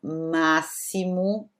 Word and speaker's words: máximo: Nós temos também o som de SS, por exemplo, como na palavra máximo, né? Máximo.